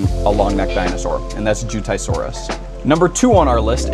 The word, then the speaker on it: Jiutaisaurus: And the best pronunciation I could find for it after a quick search was Jiutaisaurus.